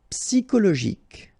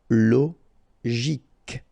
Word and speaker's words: psychologique: Normally we should pronounce it CHO, okay, but in that case we pronounce it CO. Psychologique. Remember, final Q-U-E like that, K. Psychologique.